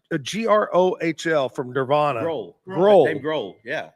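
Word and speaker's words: Grohl: Cool J song 1969 uh Dave is it pronounced g r o HL from derana Gro yeah absolutely and the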